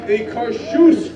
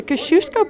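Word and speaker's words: Kościuszko: say Kosciusko you're wrong the only correct way to say the word is Kosciusko so repeat after me they cause shoes great the Kosciusko bridge is named after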